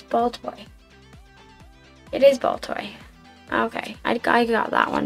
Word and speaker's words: Baltoy: It is Baltoy.